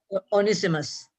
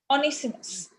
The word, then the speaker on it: Onesimus: You just gave me the pronunciation. Onesimus. Onesimus.